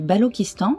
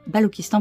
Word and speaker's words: Balochistan: Le sphinx du Balochistan, aussi appelé Grand Sphinx du Balochistan, se situe dans le parc Ingol, au Pakistan, dans la région de Makran.